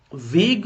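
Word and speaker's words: vague: नाउ वेग, इसको वैग्यू मत पढ़ना, इसको वेग पढ़ते हैं।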